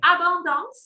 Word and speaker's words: Abondance: Abondance. How do you say it? So this cheese is called Abondance.